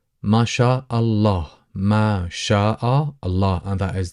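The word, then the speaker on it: ما شاء الله: this is dialect and people uh tend to soften and tend to kind of uh make the phrase a little bit more easier or smoother to pronounce then people would say Mah mashah mashah in terms of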